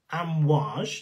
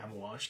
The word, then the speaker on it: Amwaj: arabic it does indeed i think it's amwash it's norm it's how it's said but i would say ammo wash because that's just how